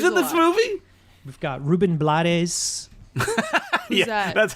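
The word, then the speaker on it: Rubén Blades: oh wow he's in this movie we've got ruben blattes that's how his name is pronounced it is that um second the second in command he has been called ruben blades by like that's the cool name blaze yes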